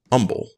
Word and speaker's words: Humble: be outdone Texas has a city spelled humble pronounced Umble I glued up the